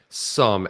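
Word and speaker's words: Xumm: know this is on wall we talk about zom you know um it's actually pronounced some according to beats win sum x-u-m-m and that's a great it's a phenomenal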